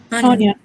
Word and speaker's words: onion: Onion. Onion. Onion. Onion, como con una al principio. Onion, no onion.